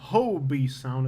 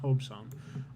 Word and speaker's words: Hobe Sound: And it's not Hobie Sound. I think it's pronounced Hobe Sound.